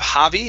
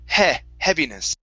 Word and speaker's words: heaviness: the word heaviness okay this is a short e sound instead of javi hobbiness it's heaviness happiness okay one more time